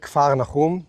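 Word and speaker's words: כפר נחום: In Hebrew, we pronounce it a little different. Kafarnaum, Nahum, the village of Nahum.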